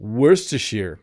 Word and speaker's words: Worcestershire: a pungent sauce i want to find a pronunciation though just to listen to worsteshear yeah i say it wrong completely wrong even